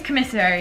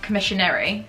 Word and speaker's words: commissary: So it is commissary and not commissionary.